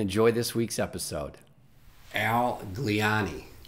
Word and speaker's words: Gliane: pronouncing my last name they think italian and they get it okay that makes sense